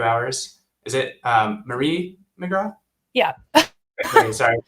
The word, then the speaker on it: McGraw: Is it um Marie McGrath? Yeah. Sorry, saying your name wrong last time.